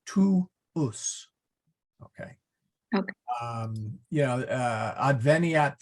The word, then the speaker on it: tuus: We say, again, you pronounce the W, tuus.